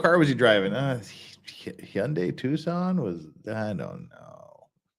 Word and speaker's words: Hyundai: for sakes it's Hyundai Hyundai is not difficult to pronounce Hyun like H young but without a g Hyundai Hyundai it's easy damn